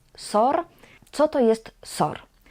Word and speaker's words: SOR: And here, SOR is pronounced as a word, not as letters; we say SOR.